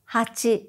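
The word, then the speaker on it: 八: in Nana Nana Nana eight is similar to hatch nine is cute ten is jus in juice let's go over the actual pronunciation it's me sang young go loco nana hachi q Joo now learn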